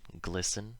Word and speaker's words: glisten: So, of course, there are words where this happens, where the T is always silent, like these ones. Listen, soften, moisten, fasten, hasten, glisten, and often. You'll notice the endings of these all rhyme with in.